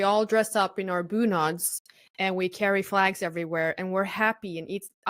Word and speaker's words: bunad: Is it like bunag, like BOONOG, bunag? BUNAD, bunad. BUNAD.